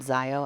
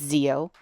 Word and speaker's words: Zeo: Her name is Zeo, not Zio. I was calling her Zio. It's Zeo.